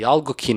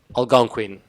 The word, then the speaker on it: Algonquin: on your right is the alkene Hotel that's a right pronunciation algo King Algonquin Algonquin Algonquin Hotel and the other frame